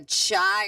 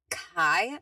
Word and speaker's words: Chi: I didn't know if it was Sigma Chai or Chi or because I have a hair product. I have a hair product and it's chi and it's chi and so that's why I looked but he said it's uh he said Franny my 19-year-old daughter made the same pronunciation last night. It's Sigma Kai, I'm guessing. Kai, cuz he said it's a hard C or K.